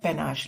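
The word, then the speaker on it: panache: pronunciation है पेनाश, लेकिन हम इसको पेनाचे, पा नाचे अपनी बेटी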